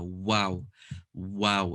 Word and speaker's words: و: letter is wow wow between the two lips forming a circle without the lips meeting now this one is actually not commonly pronounced correct it needs to be more circular wow wow it needs a lot of effort it can't be wow wow wow needs quite a bit of effort into it so where we